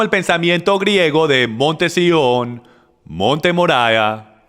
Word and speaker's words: Sion: el monte Sion y mucha gente lo llaman el monte saian pero es pronunciado el monte Sion y el monte Sion